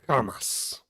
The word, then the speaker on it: Hamas: favor of Hamas agenda listen to her hit that hard H so uh tonight Hamas that's how you pronounce it yeah Kean Kean yeah